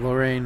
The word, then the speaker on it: Lorraine: But you'll see here that Lorraine that got me. It says Lore, but it's actually called Lorraine, I think. This is the way it's pronounced.